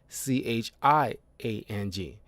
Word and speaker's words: Chiang: I might be mispronouncing that because it's not Chang as in Chang, is Chiang.